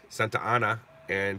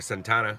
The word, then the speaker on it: Santa Ana: it's pronounced Santa Ana look it's two words she goes yes Santana